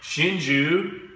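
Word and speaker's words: Hsinchu: pronounced Jie the third one in English is pronounced Shinju and the fourth one in English is pronounced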